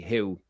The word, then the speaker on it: Hugh: Yes, it's pronounced the same way. Who?